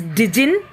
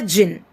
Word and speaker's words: jinn: It should not be pronounced as dijin. It should be pronounced as jinn only, children, and variously spelled as jinni, genie, guinea, dijni, etc.